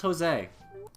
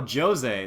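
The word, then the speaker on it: José: Oh, Jose. They actually pronounced the J. Wait, what? His name is Jose.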